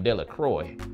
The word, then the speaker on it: Delacroix: Bobby and Harry Jones and Dickie Delacroix, the villagers pronounce this name Delacroix, eventually made a great